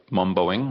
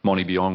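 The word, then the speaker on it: Mombeong: me refer to as Lake Momboing, which is the original pronunciation in local Aboriginal language rather than Monibiong or Mombiong.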